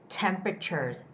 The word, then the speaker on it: temperatures: week goes on with temperatures temperatures this is the word with the first syllable stress which is e okay goes on e the first e temperatures temperatures don't say temperatures okay it's temperatures let me just say